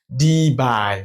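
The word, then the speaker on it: debye: unit of di moment is D is d by it's spelled like this d e b y e d by D okay so six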